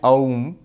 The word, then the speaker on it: Om: through that don't chant ohm ahh and together in sanskrit becomes o so ohm is the correct pronunciation not I'm not AUM